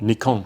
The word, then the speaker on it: Nikon: Nikon. Nikon. Nippon Kogaku. There's always like an argument of whether which way is the right way to say it. The right way is the Japanese way.